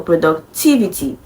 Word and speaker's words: productivity: stress Falls before it TI IV is the syllable that carries the stress so productivity okay so the final answer to this question